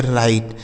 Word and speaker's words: write: आगे लिखा है WRITE, इसे पढ़ेंगे राइट।